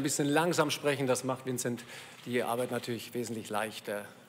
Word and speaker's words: Vincent: Vincent oder Vincent, wie wollen Sie ausgesprochen werden? Ja, also eigentlich ist mein Name Vincent. Aber ich habe 2 Jahre in Hamburg gespielt. Und das hat nie geklappt, weil das ist schwer auszusprechen für die Deutsche, glaube ich.